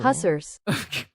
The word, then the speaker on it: Hussars: The stress is on the first syllable. Hussars.